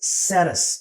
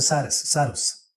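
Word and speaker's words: Sarrus: Now the second one is called as Saras, or you can call it as Saras. Saras or Sarus, whichever way you want to pronounce it.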